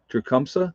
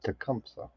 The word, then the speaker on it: Tecumseh: treshum michigan probably said it wrong i apologize dracumsa tecumseh okay well there you go london is in